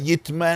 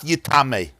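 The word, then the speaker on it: יטמא: It's written Yud Tes Mem Aleph, which could be read Yitma and read Yitame. But what's the right pronunciation? The right pronunciation is not Yitame.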